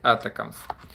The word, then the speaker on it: ATACMS: вже також мусив погуглити як вони правильно вимовляються правильно етика якщо Все вірно по транскрипції я знайшов якщо невірно то мене поправте бо я в цьому плані так знаєте так як то кажуть хочеться правильно це вимовляти Ось але найшов що читаєте етикам тому будемо дивитися Чи